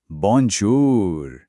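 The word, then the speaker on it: bonjour: गौर कीजिए, जो ओ है वो तो ओ है, लेकिन जब औ साथ में आता है ना, तो आवाज थोड़ी नाक से निकलती है, बॉन्जूर।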